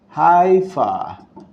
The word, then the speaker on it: Haifa: some people call it Haifa with a h but was Israelis pronounce it with a huh you can put the